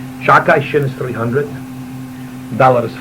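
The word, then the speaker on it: שדי: We don't pronounce the Dalet not to take the name in vain, so we say Shakai. Shakai, Shin is 300, Dalet is 4, Yud is 10.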